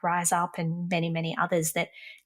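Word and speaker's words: Rize Up: The organisation that Jas mentioned, Rise Up, is spelled RIZE.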